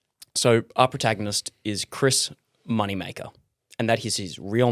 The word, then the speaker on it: Moneymaker: Is it supposed to be pronounced Moneymaker or is it like Moneymacher? No, it's Moneymaker.